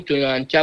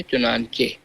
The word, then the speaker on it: چنانچہ: چے چے چنانچہ، اس کو بہت سے لوگ چنانچہ پڑھ لیتے ہیں لیکن صحیح تلفظ ہے چنانچہ.